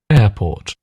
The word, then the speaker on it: airport: So, I would say the the air the R is basically silent. I think some people would do put a very slight R sound there, but it's I would recommend try to avoid it, really.